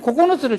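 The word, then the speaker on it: 九つ: 코코노츠가 제일 외우기 쉽죠? 선생님 코코노츠를 제일 먼저 외웠어요. 왜? 코코넛하고 비슷하잖아요, 발음이.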